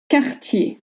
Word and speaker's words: Cartier: Cartier. Cartier. C plus A makes the sound K. K. And you don't voice any R sound at the end, even if you see one.